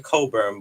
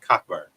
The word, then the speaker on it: Cockburn: better than kofi cockburn i know his name is coburn but i've been pronouncing it cockburn but ain't no way